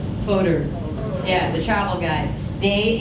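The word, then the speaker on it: Fodor's: The most exciting thing that happened right at the end of 2018 is, I don't know how to say it, is it Fodors or Fedors? Fodors.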